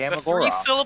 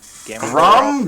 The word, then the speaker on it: Gamagora: The Gamagora. three syllable name. That's not difficult to say. Gamagora.